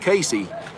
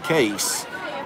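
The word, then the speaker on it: Kayce: is spelled ka yce so if you read it's gonna sound like Casey which I made plenty of mistakes calling them but his actually his mama named in case it's pronounced case not Casey that's a strike and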